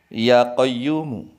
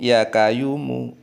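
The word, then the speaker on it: يا قيوم: Seharusnya ya hayyu, ya qayyumu. Ya hayyu, ya qayyumu. Tetapi dia salah ucap. Ya kayuku, ya kayumu.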